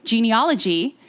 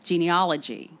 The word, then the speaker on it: genealogy: So Americans pronounce the A in genealogy much in the same way that Aussies pronounce the A in aunt, like aunt. Yeah. Genealogy. Genealogy.